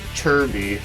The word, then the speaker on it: Chibi: It's actually pronounced as Chirby, or at least that's how they pronounce it in this game for some reason, but as it's spelled Chibi.